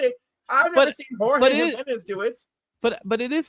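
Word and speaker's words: Jiménez: That's how you say it, Jimenez. A lot of people say Jimenez.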